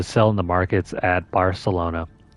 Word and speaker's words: Barcelona: Or if you're speaking this with the Spanish accent, I think it's pronounced Bar. There's a lisp here. I think it's pretty funny though. In my part of the world, you pretty much speak Spanish with a Latin or even a Mexican accent, so you end up pronouncing this as Barcelona instead of Barcelona.